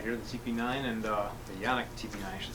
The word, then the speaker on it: Canik: We got here the TP9 and the Yannick TP9, I should say, or Canik, depending how you want to pronounce it. Everyone says it different ways.